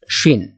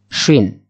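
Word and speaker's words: شين: এরপরে আসি শিন। শিন, এই শিনকে আমরা বলা বা উচ্চারণের সুবিধার্থে আমরা বাংলার তালিবাস স্বরের সাথে আর কি মিল রেখে বলতে পারি। যেমন শিন, শিন এখানে ত্রিফলা থাকবে এবং উপরে তিন নোকতা দেওয়া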